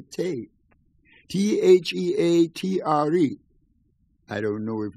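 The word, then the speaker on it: thé: Because there's no TH sound in French.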